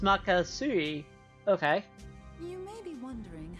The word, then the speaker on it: Magatsuhi: Also, it's pronounced Makasui.